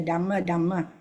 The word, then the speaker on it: Dhamma: So you see, in Pali, when we chant, the TH is very clearly pronounced. The TH, the DH, the T, the Dhamma. See, we say the Dhamma. We don't say the Dhamma. We say Dhamma because DHA, MMA, Dhamma. Buddha, BUDDHA, DHA. So Buddha.